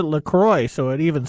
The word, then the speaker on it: LaCroix: word Canadian in it you should pronounce it Lacroix so it even sounds